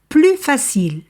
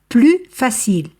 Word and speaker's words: plus facile: ou achemuée par exemple plus facile écoutez bien ici je ne prononce pas le S plus facile car l'adjectif commence par consonne plus aimable ici je